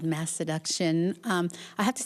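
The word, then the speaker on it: Masseduction: I have to say I didn't know initially how to pronounce that because it's a very fun word. You can really play around with it. I thought it was mass education for a while.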